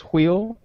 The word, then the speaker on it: wheel: is one that is the correct way to pronounce wheel Huichol yeah H but why did it three